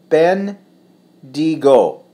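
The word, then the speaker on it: Bendigo: people talking about here it's pronounced been Diigo it's a cool cold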